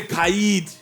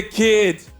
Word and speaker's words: Khaid: it some people say kaid actually some people say kid well ladies and gentlemen Kade is in the building G how we doing